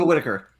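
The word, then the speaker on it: Whittaker: name it's nick not whatever taker thank you whitaker i would have given her the award this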